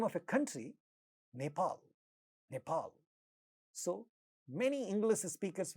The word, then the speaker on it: Nepal: they speak this word, because it has 2 syllables and the second syllable is stressed, and in the beginning of the stressed syllable there is a pa sound, so they make it aspirated. They say Nepal, Nepal.